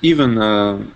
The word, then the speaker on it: Ivan: And so even though the V and the N are together, you would pronounce that Ivan, right? I pronounce it Ivan. It's like nickname.